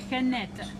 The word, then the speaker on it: Jeanette: But you pronounce it like Jeanette, exactly.